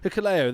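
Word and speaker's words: Hikuleo: combination of Bad Luck Faroo, I can never pronounce his name. Hiku, Hiko, Hicleo, there you go.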